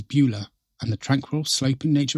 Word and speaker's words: Beaulieu: It's pronounced locally as Beulah, and the tranquil sloping nature reserve features winding trails, mature oak trees, open meadows, and a hidden pond.